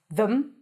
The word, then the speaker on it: them: When it's unstressed, you can either pronounce it as them, them, them, no vowel. It's a schwa. It's reduced. The e is reduced to a schwa. Them. But I like to think of it as if there is no vowel and you're transitioning between the th and the m.